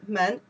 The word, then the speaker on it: 门: You pronounce the man, the meaning is a door.